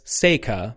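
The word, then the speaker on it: 星河: You wouldn't normally pronounce it hoshiawa, but you would normally pronounce it as seikka. It's the Japanese word for the Milky Way.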